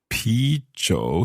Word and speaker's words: 啤酒: 啤酒 Pi zhou. So that's another kind of zhou. And pi, I guess it sounds a little bit like beer. Yes, it precisely. We'll borrow the pronunciation of beer and then you translate